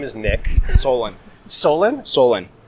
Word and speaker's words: Solon: Solon. Solon? Solon. How do you spell that?